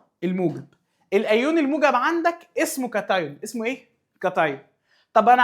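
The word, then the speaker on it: cation: قال لي طب يا مستر انا عايزك تحسب لي عدد مولات الكاتايون او الكاتيون زي ما بعض الناس بتقول او بتنطقه يعني الدارج، بس هو اسمه باللاتيني الاصلي كاتايون.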